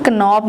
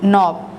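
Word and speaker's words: knob: नॉब, इसको हम कनॉब नहीं पढ़ेंगे, नॉब।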